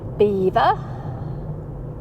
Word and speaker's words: Belvoir: Belvoir means beautiful view and it's what the Normans called this area. But the Anglo-Saxons couldn't say Belvoir, so they butchered it and made it beaver because it was easier to say.